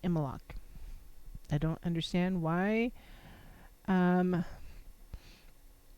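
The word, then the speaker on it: Imbolc: me and so it's spelled IM bol c pronounced EMA lock I don't understand why I'm not sure why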